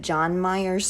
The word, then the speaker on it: Jan Myers: Tamla arrived at Jan Myers, which I think she pronounces it John Myers, so I'm going to just say John Myers, but it is spelled Jan Myers.